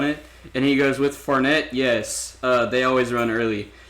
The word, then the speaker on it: Fournette: How do you pronounce that name? Fournette.